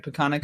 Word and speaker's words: Peconic: So another area that you work in too is the Peconic, I hope I said it right, Peconic Hockey Foundation.